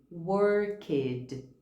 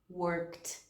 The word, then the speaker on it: worked: A gente lê esse ed no final. Ou a gente fala called, worked, cleaned. Quando na verdade a pronúncia é helped, called, worked, cleaned.